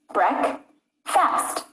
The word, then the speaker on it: breakfast: syllables do they have breakfast has two syllables breck fast banana has three syllables